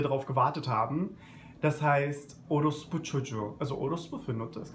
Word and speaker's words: Orospu Çocuğu: Also richtig ausgesprochen, Orospu Çocuğu.